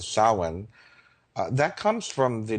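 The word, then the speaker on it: Samhain: Um people spell it s a m h a i n but it's pronounced sin.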